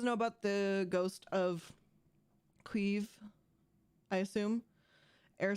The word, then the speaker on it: Kyiv: It's not Kiev. Kiev is Russian. Kyiv is what we're saying, which is better. But I believe the actual pronunciation is Kyiv. Kyiv, right? I think it's Kyiv. Maybe I'm still pronouncing it wrong.